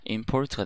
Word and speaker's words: import: 의해서 포르트가 되는 겁니다 원래 인포트인데 import가 이렇게 p가 오면 인이 발음상 임으로 바뀌어요 그래서 import가 됩니다 이게 수입하다가 되죠 폴트가 한